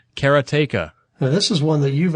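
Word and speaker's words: Karateka: actually come out now karatica no I'm mispronouncing that keratea this is one that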